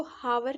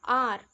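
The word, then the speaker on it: hour: एच से शुरू हो अब हम इसको हावर नहीं बोलेंगे साइलेंट है इसमें एच क्या बोलेंगे हम इसको आर एन आर an honest N ओटेल ओटल ठीक है ह यानी एच साइलेंट है इसमें ये थे एन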